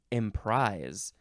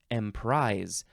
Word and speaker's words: emprise: means next is emise Emprise uh it is spelled with an S not a z even though it sounds like it's a z m prise now down from the